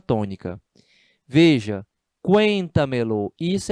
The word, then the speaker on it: cuéntamelo: Fica dessa forma, ó, cuéntamelo, formando com o verbo uma única palavra. Não se usa hífen. É por isso que vai dar uma quarta sílaba tônica, né? Por causa da junção de dois pronomes. Ó, cuenta-me-lo. Você tem aqui uma quarta sílaba tônica. Cuenta.